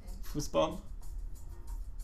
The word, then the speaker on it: Fußball: I didn't mean to, but I want to say that that's how they say it in German. Fußball.